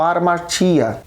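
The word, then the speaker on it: ἁμαρτία: Romanos 5,12, nós sabemos que o pecado ele é derivado de uma palavra grega pronunciada como armatia.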